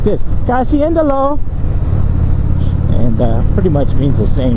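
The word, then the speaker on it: kasihan deh lo: Kasiendalo, like make a long S. Kasiendalo.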